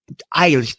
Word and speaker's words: Eilish: We left the youngest in the house yesterday, and she had seen, I can't pronounce the chick's last name, but it was Billie Eilish. Eilish.